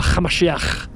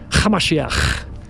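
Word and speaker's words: המשיח: followers call them Yeshua Hamashiach, with a ch sound. You have to add a little bit of a throaty little ch. Hamashiach. That's Aramaic. That's what it sounds like, folks.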